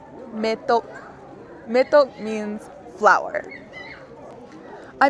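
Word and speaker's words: མེ་ཏོག: Our first syllable, ma dengbo me. Our second syllable, ta naro to ka tok, me tok.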